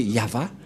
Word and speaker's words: Yahvah: de de yava et la prononciation de y h vav he selon les ébreues c'est yava et personne ne peut